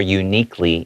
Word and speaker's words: uniquely: Uniquely is pronounced like with a Y sound.